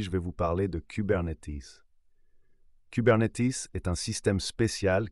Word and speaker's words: Kubernetes: Prononcé cubernetes.